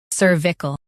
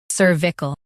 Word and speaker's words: cervical: cervical Now, read the syllables shown on the screen naturally. cer vi cal cervical Stress cer and keep vi-cal smooth.